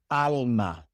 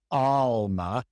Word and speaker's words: alma: ladron it is ladron alma alma you don't pronounce it alma it Alma.